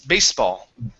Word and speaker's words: baseball: word baseball so here instead of saying bayes pronouncing a z it's ace base baseball baseball good so um hits a baseball with